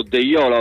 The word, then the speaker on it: Deiola: di Dossena il ripiegamento di deiola deiola l'ho pronunciato deiola ho detto quindi ricordatevelo il lancio lungo ancora